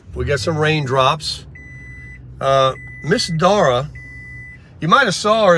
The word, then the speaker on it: Dara: So, Miss Dara, that's how she told me to pronounce it, D-A-R-A.